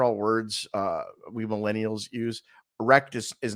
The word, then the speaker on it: rekt: Wrecked is not what you think it is. It's not spelled WRECKED for all you old people watching. It's spelled REKT. Wrecked. It's a different kind of wrecked.